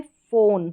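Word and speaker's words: phone: हैं तो यह है फोन फ फोन यहां पर यह जो ई लास्ट में है यह साइलेंट है यह ओन तो पढ़ा जा रहा है लेकिन ई नहीं फोन फिर नेक्स्ट है यहां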